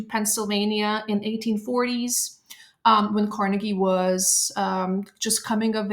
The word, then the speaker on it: Carnegie: interest today is Andrew Carnegie you may pronounce you may have here iteration of his last name being pronounced as the carnegi I'm going to go with Carnegie so he became a